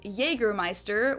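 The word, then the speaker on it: Jägermeister: crya in germana a English speakers usually say Jagermeister which is pretty much the same just with a pretty thick accent when she says things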